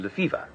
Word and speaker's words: Lefebvre: Spelt Lefebvre, but pronounced Lefevre. Necessity has once more been the mother of invention, and I have invented Captain Lefevre.